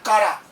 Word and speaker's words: Chara: ये कहलाता है कारा। चारा नहीं है, लिखा ऐसे ही जाता है, CHARA। क्या प्रोनाउंस होता है? कारा।